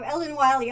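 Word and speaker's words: Ellen Wille: is from there and their pronunciation is not quite like that so ellen wiley okay i'll be comfortable saying that now thanks deb see oh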